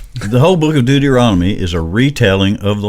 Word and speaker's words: Deuteronomy: Deumbrean. See, I say it wrong. He still struggles with it. I'm probably saying it wrong. Anyway, Deuteronomy.